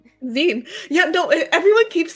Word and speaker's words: zine: Zen Z I N E O Zen. Zen.